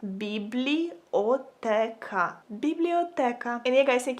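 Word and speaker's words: бібліотека: So if you want to say library in Ukrainian, you would say it like biblioteka. Biblioteka.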